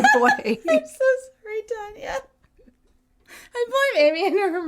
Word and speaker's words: Tanya: Her name is Tanya, by the way. It's spelled like Tanya Tucker. Thanks for buying our merch, Tanya. We love you. Tanya, not Tanya.